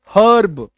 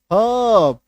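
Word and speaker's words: herb: ए आर ई आर देखो ई आर वाला पूरा सीरीज आएगा जैसे एच ई आर बी क्या हम लोग बोलते हैं हर्ब हर्बल ना हब क्या बोलना है हर्ब आई बात समझ में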